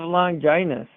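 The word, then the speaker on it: Longinus: No, but that spear is actually called the lance of longginus. Rhymes with sun.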